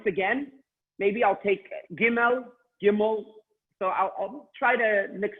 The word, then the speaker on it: gimel: understand okay next the letter gimel okay please pronounce gimel I know you're all muted but please seguimos five-time demo I'm looking at your mouth Tim all gimel gimel gimel okay now once again maybe I'll